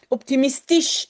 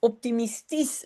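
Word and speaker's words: optimistisch: On l'a toujours pas fait euh dans la langue néerlandaise, ça va venir je pense mais on prononce à la fin comme un s belis optimistis national nationalistis.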